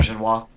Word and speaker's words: Auberjonois: Is that how you pronounce his name? I'm not sure. Auberjonois.